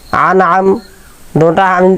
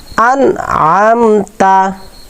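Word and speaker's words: أنعمت: সিরাত সিরাতাল্লাজিনা আনআম অনেকে আন আমটা আইন বলে ফেলি অনেকে আন আম হামজাও বলে ফেলি এটা দুইটা একটাও নাই আন আম আবার আনে আমও বলে আনে আমে বলা যাবে না আন আমতা আন আমতা আমতা আলাইহিম আলাইহিম হবে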